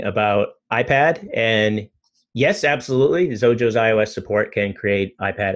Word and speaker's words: Xojo: J is asking about iPad and yes absolutely zojo iOS support can create iPad apps as well